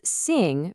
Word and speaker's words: 姓: Okay, so on the surface, Xing, pronounced Sing, seems pretty straightforward.